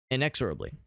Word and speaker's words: inexorably: Inexorably, rather, is the proper pronunciation.